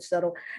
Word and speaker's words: subtle: to somebody and say do you know how to spell the word subtle because i wanted to spell it s-e-t-t something like that like settlement subtle but no dumb now